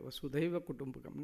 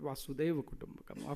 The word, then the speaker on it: वसुधैव कुटुंबकम: Vasudha ये हमारी क्या है, हमारा परिवार है, वसुधैव कुटुंबकम, not वासुदेव कुटुंबकम. Often people say it wrongly.